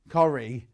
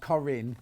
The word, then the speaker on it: Corrie: Corrie, not Corinne, Corrie. Like Coronation Street.